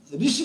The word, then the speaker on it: ऋषि: जैसे एक शब्द हम ऋषि शब्द का प्रयोग करते हैं, उसमें री है, उसका उच्चारण ही मूल उच्चारण भूल गए, विस्मृत कर गए। हम र के ऊपर ई की मात्रा लगा देते हैं तो भी हम री पढ़ते हैं, और ऋषि शब्द का